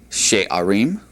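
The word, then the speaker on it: שערים: Gates in the plural would be she'arim.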